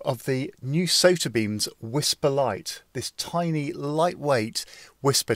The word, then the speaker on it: WSPR: to say about whisper wspr pronounced whisper stands for weak signal